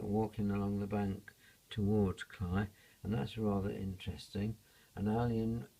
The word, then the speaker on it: Cley: had cly the losses written CLE y but the locals all pronounce it cry so that the other